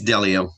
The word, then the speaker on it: Delio: you say your name dalio or just take it off mute you can take yourself off mute there we go uh it's delio like that like a computer farmer in the dell